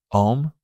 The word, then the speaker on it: Om: words would be om which is actually spelled not just om but it's actually spelled a m most classically and it's important that it's spelled in that way because it is it's symbolic of where the sound starts ah deep down center of our chest ah ooh further in our throat and all the way